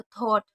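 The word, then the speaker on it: thought: को हमने टा पढ़ा, जी एच साइलेंट है, तो थॉट यानी कि विचार।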